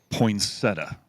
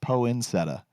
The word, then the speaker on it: poinsettia: Okay, my wife, who's from Wyoming, loves to call it a poinsettia, Ooh. which I believe is maybe phonetically correct if you were to look at the letters, poinsettia. But for the record, it is poinsettia.